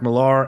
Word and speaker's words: Millar: new joint from Mark Millar and Frank Quitely, or Mark Miller, sorry. We've got Is it not Millar? No, It's it is Mark yeah, Millar.